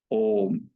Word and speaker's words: ओम: मात्रा तीन बार ओ उच्चारण तीन गुना लंबा हो और म को उसम टच करें ये कहना भर उसका लेकिन उच्चारण करना है सीधे वैसे ओम ओही ओम बोलना है इसमें करने